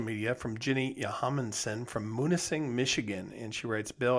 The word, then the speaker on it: Munising: they were in singh i think it's pronounced munising m-u-n-i-s-i-n-g uh michigan yeah that's